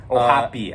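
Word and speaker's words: O'Hoppe: Ohopi, actually.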